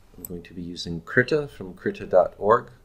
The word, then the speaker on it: Krita: going to be using Krita from crater org or I guess it's technically pronounced Prieta and now just edit this